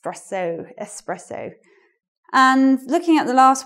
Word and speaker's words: espresso: X presser want an expresso but it's more elegant to pronounce this word with that s s Rosso espresso and looking at the